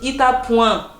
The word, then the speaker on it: Itapuã: Si je lis, je vais dire Itapuã et ça se dit Itapuã. Le A et le tilt, ça se dit un.